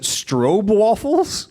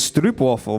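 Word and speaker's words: stroopwafel: can I just check did you pronounce it strobe waffles don't worry about it cuz I I don't know I have some friends in the west and they tell me it's strop waffle but you know waffle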